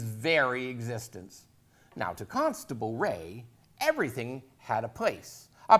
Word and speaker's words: Rea: My name is Jim Ray, spelled R-E-A, and pronounced Ray.